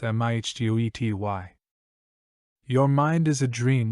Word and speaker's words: mitote: Your whole mind is a fog which the Toltecs called a mitote, pronounced mihtety.